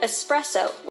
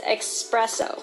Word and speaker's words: espresso: goes for words like espresso which many pronounce it as expresso or sherbert with an